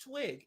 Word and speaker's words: TWYG: Now, this is TWYG, pronounced Twig, and it's a New Zealand skincare brand that was launched in June 2023.